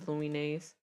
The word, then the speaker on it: Lumines: I feel like it maybe look at the Luminess demo. Lum. I know it's Lumines. I know. I know everyone. Everyone who has told me it is Luminess.